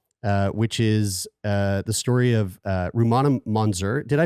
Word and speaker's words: Rumana Monzur: Out of Darkness, which is the story of Rumana Monzur. Did I pronounce that Yes, correctly?